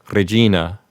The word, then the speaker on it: Regina: If you're using ecclesiastical pronunciation, the G in Regina will be a soft G, and you'll want to roll the R. So in ecclesiastical pronunciation, the word Regina would sound something like Regina.